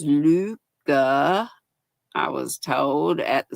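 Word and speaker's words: Lykke: pattern I'm using this is one of my Luca Luca hooks it looks like likey l y k k e but pronounced Luca I was told at the Smoky Mountain yarnery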